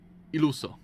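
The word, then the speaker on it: Illuso: Iluso. That's how you pronounce it.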